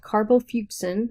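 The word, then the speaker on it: carbol fuchsin: you have your primary stain which is called carbo fussen that's how you pronounce that and it has a red color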